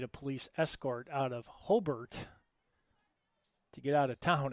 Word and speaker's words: Hobart: Don't call it Rivas because that's that's like calling, believe it or not, Hobart, which is spelled Hobart. It's Hbert. I made that mistake broadcasting